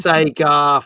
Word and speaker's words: Sega: looking forward to this one um you keep pronouncing Sega wrong it's Sega I'm not doing that again we did that